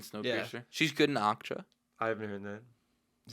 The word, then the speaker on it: Okja: She's good in Okja. I haven't heard that. Is that how you pronounce Akcha.